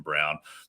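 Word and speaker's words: Braun: guys like Christian Brown I don't know why his name isn't pronounced Brawn but apparently it's Christian Brown Bruce Brown Jeff Green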